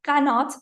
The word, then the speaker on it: Qanat: The word Qanat that we pronounce it Qanat in Farsi comes from the Arabic word Qana.